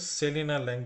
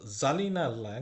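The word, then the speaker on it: Selina Lang: নাম তো আমরা কিন্তু সেলিনা ল্যাং পড়বো না জার্মানিতে এস এর উচ্চারণ কিন্তু সবসময় জেড হয় আর জেড এর উচ্চারণ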